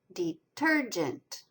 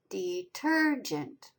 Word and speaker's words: detergent: Detergent, ter is accented. It's the second syllable. Detergent.